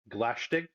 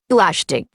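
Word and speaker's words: Glaistig: Okay, so I'll walk you through this pronunciation. Glashtig. Thank you. Glashtig.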